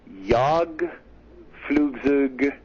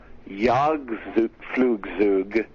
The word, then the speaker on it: Jagdflugzeug: Which, by the way, in German, the J would have a Y sound. Yeah, it sounds like a Ya.